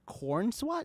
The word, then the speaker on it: Corenswet: So Superman and Lois, they casted David Corenswet.